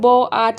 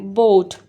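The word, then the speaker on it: boat: सो ब ओठ तो हम लोग ब आठ नहीं बोलते ना सो इसमें पहले वाले को साउंड आ रहा है और सेकंड का साइलेंट हो गया ठीक है बोट सो इस तरह ओ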